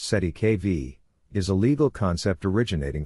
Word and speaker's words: cestui que vie: The term cestuic kvi pronounced si kv is a legal concept originating from French law and used in common law contexts specifically in trust law.